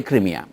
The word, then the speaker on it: ক্রিমিয়া: বলছি ক্রিমিয়া এখন যে ক্রিমিয়া আজকাল আমেরিকানরা ক্রাইমিয়া বলে আপনিও ক্রাইমিয়া বলছেন দেখলাম এটা আমরা সবসময় ক্রিমিয়াই বলি কারণ রুশ উচ্চারণ সেইটাই তো আমাদের আমরা ক্রিমিয়ায় বলবো না ইংরেজদের মত বলবো না এখানে এটা একটা প্রতিকী